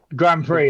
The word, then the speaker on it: grand prix: prix grand prix yes no it says pricks on eurogamer it's prx yes grand prix like in f1 what's what's the x that's that's how you pronounce it yeah grand prix because i think